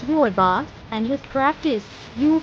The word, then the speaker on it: rooibos: speak correctly is not just about getting the pronunciation right it's about appreciating the culture and Heritage behind this amazing team remember it's Ro boss and his craft is you'll be a pro